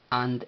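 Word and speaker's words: አንድ: letras en español como A, N sin pronunciar un vocal, y finalizando con D de doctor sin pronunciar vocal. And.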